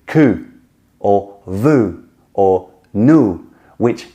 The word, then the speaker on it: cul: Nu and vu mean naked and seen, respectively, and que, which is spelled C-U-L for some reason, but que actually means backside, le derrière.